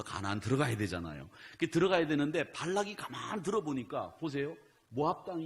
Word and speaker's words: 발락: 여러분 혼돈하시기 쉬운데 모압 왕의 이름은 발락이에요. 발락. 한번 따라해보세요. 발락. 발락은 모압 왕이고 발람은 선지자예요.